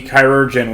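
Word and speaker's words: chirurgeon: And I looked pronounced surgeon, isn't it? Yeah. Is it? Sure. Sure it is. It has Kyrojen. It's It's I'm pretty sure it's still just pronounced surgeon. It's just older spelling. It's the same thing. I I had to I mean, it's the same thing, but that's how you would say it.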